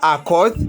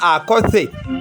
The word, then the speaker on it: Akoth: asinga Akoth oba goyinza okuyita Akoth asimanyi pronunciation okusinziira ku bannakenya nga bwe bagenda maaso n'okuba nga baatula erinnya lye omukyala oyo afubutuka wali mu Kenya amanyiddwa nga Akoth oba Akothe bw'oba nga ogoberedde enjatula y'engeri gy'awandiikamu erinnya lye kuba lisembyayo